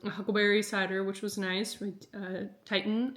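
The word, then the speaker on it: Tieton: Titan, I think is how you say it. T I E T O N Cider.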